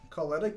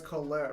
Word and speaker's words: Colette: even a Japanese name how are you pronouncing that wrong all right it's Colette right that's what you said